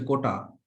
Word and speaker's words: quota: ও মানে কোনো ধরনের কোঠাই নাই এখন? না, কোঠা না, উচ্চারণ হচ্ছে কোটা, QUOTA, কোটা, নট কোঠা। রুম, কক্ষ, কোঠা, এই কোঠা না, কোটা, QUOTA।